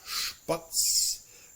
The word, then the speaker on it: Spatz: beginning of a word are also pronounced like a st or a sp. So in this case, even though we don't have the SCH or SCH, the combination of ST and SP are pronounced very much like a sh followed by the t or by the p sound.